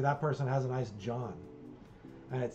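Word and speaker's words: jawn: you have they have a term it's called John it is spelled j a WN it does not have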